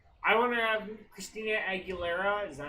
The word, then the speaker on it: Aguilera: I want to have Christina Aguilera, is that how you say it?